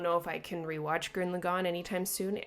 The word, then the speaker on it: Gurren Lagann: Obviously, I noticed Evangelion in the episode, but like I forgot about Gurren Lagann or Gurren Lagann. I don't care how it's pronounced.